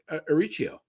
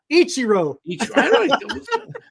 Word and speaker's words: Ichiro: He's going to become a major league favorite, just like Arichio. Arichio? How do you say his first name? Suzuki. I mean, yes, that's right. I mean, Suzuki Arichio. What am I saying? Ichiro.